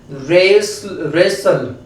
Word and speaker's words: wrestle: अब देखो यहाँ पे तो W है, लेकिन W के यहाँ पे साइलेंट है। रोंग में भी W क्या होता है?